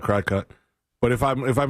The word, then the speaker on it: Cricut: I run into things like this when I want to like make stuff like on the Cricut uh or it's spelled cry cut. Some people call it cry cut.